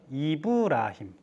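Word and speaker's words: إبراهيم: 아브라함은 뭐라고 읽어요? 이브라힘.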